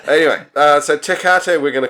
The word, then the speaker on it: Tecate: I would say this is called Tecate. It's a Mexican beer, but other people around the world might pronounce that name differently. What do you think? Tecate? Tecate? Yeah. It could even be a... No, it's definitely a hard C, isn't it?